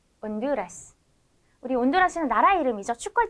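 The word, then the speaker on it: Honduras: 다음은 아체는 아체라 하는데요 아체는 무음이에요 소리가 없어요 그래서 엘라도 엘라도 온두라스 온두라스 우리 온두라스는 나라 이름이죠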